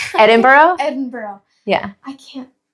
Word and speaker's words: Edinburgh: yeah what would be your next one um Edinburg Edinburgh Edinburgh yeah I can't it's okay it's okay pronunciation but I really do want to go